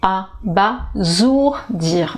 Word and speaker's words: abasourdir: je vais dire abasourdi mais vous voyez dans ce mot là il y a le s entre deux voyelles c'est une règle très simple à appliquer mais je vous dis on reste sur de mauvaises habitudes et donc puisque le s est entre deux voyelles on va prononcer ah bah jour dire voilà s entre deux voyelles ça fait donc ses abasourdir abasourdir ça veut dire c'est